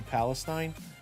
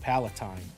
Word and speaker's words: Palatine: Motherfucker called you Palestine. I'm dead. What? Is that not how you say his name? Oh, Palatine. My bad. You're not wrong.